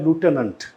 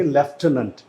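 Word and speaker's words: lieutenant: हैं वो इसे बोलते हैं लूटेनेंट, लूटेनेंट बोलते हैं, और जो ब्रिटिश होंगे वो बोलेंगे लेफ्टिनेंट। तो अगर आप पहला ऑप्शन देखोगे ना, यहाँ पे ये देखिए, ये लूटेनेंट है, तो ये है अमेरिकन प्रोनाउंसिएशन। और अगर लेफ्टिनेंट की बात करेंगे ना, ये यहाँ पे दे रखा है लेफ्टिनेंट, ये आपका ऑप्शन जो है वो ब्रिटिश ऑप्शन है, मतलब ब्रिटिश प्रोनाउंसिएशन है।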